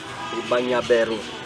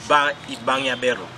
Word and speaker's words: Ibangabero: Ibangabero. That's the pronunciation. It is Ibangabero.